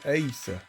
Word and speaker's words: aesc: mon nom sur Youtube faut savoir que ça s'appelle Ace voilà tout simplement et il